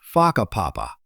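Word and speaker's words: Whakapapa: You'll hear locals casually talking about places like Faka Papa, pronounced Faka Papa.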